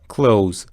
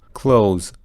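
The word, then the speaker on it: clothes: ل او و ز یعنی صدای ز اونقدر غالب هست که تی اچو حذف میکنه کلوز کلوز به این ترتیب شماره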